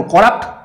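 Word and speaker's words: corrupt: করাপ্টের ক্ষেত্রে দেখো করাপ্ট উচ্চারণের ক্ষেত্রে সিওআর হবে না সিইউআর হবে, এই ক্ষেত্রে অনেক কিছু প্রবলেম। আসলে বন্ধুরা উচ্চারণটা কিন্তু ওরকম না করতে, আমাদের উচ্চারণ করে এরকম কর আর রাপ্ট, তাহলেই আমরা পেয়ে যাচ্ছি করাপ্ট, ঠিক আছে?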